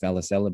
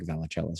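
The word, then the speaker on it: Vallicella: look at uh valachela i know it's probably pronounced valisella but i like valicella so i'm just going to say velicella this is his broadly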